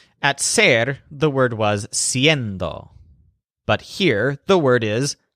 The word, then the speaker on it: siendo: ser the word was siendo but here the word is a Sein though based on hacer instead of ser in both cases the stresses on end siendo and haciendo for example to say